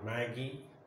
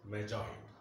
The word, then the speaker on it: Magi: See the word, sometimes some people pronounce it as Magi or Maggie, but the actual pronunciation is Magi.